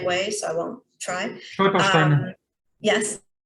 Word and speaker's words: Stolpersteine: memorial stones in the pavement that I never pronounced the right way, so I won't try. Stolpersteine.